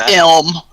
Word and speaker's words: Ilm: It's Ilm, but everybody calls him Lim.